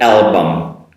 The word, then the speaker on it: album: Make sure you make that proper L and finish it with a bump. Album. No vowel sound at the end of the word.